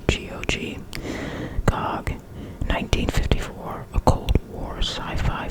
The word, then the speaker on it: Gog: Number 25, and I don't know, I think I'm supposed to pronounce this one, GOG, G-O-G, GOG, 1954, a Cold War sci-fi film.